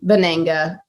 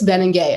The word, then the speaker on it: Venenga: started working together and i've been pronouncing your name bananga for like a year and now you're i'm like just before we jump on this podcast it's ben and gay okay that sounds cooler